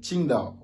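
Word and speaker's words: 青岛: Il n'est pas dit Qingdao avec le J, non, c'est différent. Le J c'est Ti, le Q c'est Qi, vous voyez, Beijing, Qingdao.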